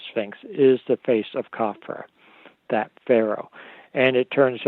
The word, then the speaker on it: Khafra: Khafra, also known as Chephren. Depends on how you want to pronounce it. No one really knows how they pronounced it in ancient times. Khafra is probably closer to their correct pronunciation.